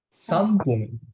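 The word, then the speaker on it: 三分: Sampung, Sampung. Sampung. moichido, sambung. Sampung. Nah, ini di sini kan ada huruf N di tengah-tengah. Ketemu P. Dibacanya M. Jadi sampung.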